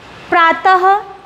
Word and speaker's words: प्रातः: वर्ण के सामने पर इसका उच्चारण किस रूप में होता है हाथ ध्वनि के रूप में होता है जैसे नमक हम प्रातः अतः यौन आदि देखिए